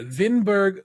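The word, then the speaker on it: Winneburg: of the metrich vinberg No No it's it's a W's pronounce with a V yeah yeah vinberg suin who was charged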